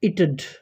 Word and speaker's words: it'd: It had and it would, pronounced in the same way in spoken form. It should be it'd. It'd, not it'd. It'd. Here comes swa sound.